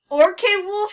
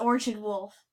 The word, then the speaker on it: Orchid Wolf: she will but like or Kay wolf you do not say that that's not how you pronounce it it's Orchard wolf I don't know why